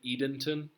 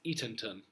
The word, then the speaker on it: Eatonton: Edenton, but it's Eatonton.